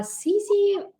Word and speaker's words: Sizze: app CZ so uh CC like it rhymes with easy all right and it